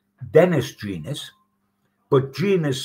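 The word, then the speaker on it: Gans: known his dad was called Dennis genus but genus spelled with a g g a n s but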